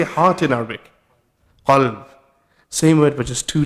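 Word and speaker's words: قلب: Qalb. Same word, but just two letters are different. Imagine you read in the Qur'an, you're talking about the dog, but you say qalb.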